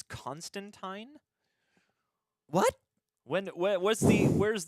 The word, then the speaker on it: Constantine: except the Sandman show it's supposed to be like wine not teen sorry Alan Moore so it's Constantine what when what's the